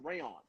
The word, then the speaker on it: Rayan: You pronounce it rayon, like the fabric.